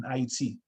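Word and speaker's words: Ayiti: the african revolution in iet iet is the way we in haiti say it right so we say it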